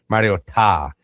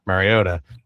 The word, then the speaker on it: Mariota: They just kept saying Mariota Marota. Well, so that's how his father told the announcers at the college championship to pronounce it. Like the correct pronunciation is Mariota. It's not Mariota.